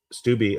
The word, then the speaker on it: Steube: And it's from Secretary Kennedy to Representative Steube Steube of Florida is how you pronounce it.